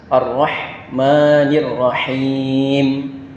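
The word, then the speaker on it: الرَّحْمَٰنِ الرَّحِيمِ: Di sini ada dua huruf ha kecil, yaitu harus pengucapan dengan jelas Ar-Rahmanir-Rahim. Ini juga harus kita hati-hati, terkadang ini yang sering kita salah karena haknya ini terbaca huruf hak besar, sedangkan ini adalah hak kecil, yang artinya adalah yang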